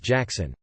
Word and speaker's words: Gackson: Well, it turns out he wasn't messing with me, and someone on his dad's side was actually named Gackson, pronounced Jackson.